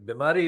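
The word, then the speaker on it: بیماری: Bimari is a word common to many of the languages, including the Siloti language, and it means sick, ill, and it rhymes with Zardari, Bimari.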